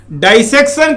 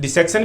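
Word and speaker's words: dissection: ऐसे ही तो की नहीं जाएगी, डाइसेक्शन करते हैं। प्रोनाउंसिएशन देखिएगा दोस्तों, डिसेक्शन भी बोलते हैं लोग, प्रॉपर प्रोनाउंसिएशन है डाइसेक्शन।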